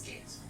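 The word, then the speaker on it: geas: It's spelled Gios, but it's gaze.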